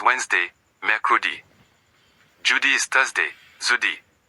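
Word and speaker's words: jeudi: Zudi. Notice that J sound. It's like the S in measure. Soft not a hard J.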